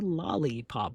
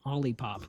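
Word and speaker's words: Olipop: Not a lollipop, but an ollipop. And yes, Luna has thought that I've said lollipop before, and I'm like, "No, I need to spell it for you." O L L I E pop.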